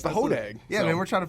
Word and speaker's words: Hodag: Home of the Hodag or Hodog? How do you say Hodag. Yeah, you Hodag, got that. Yeah, it's the Hodag.